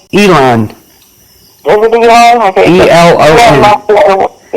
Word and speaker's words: Elon: I don't know how to pronounce his first name. Elon.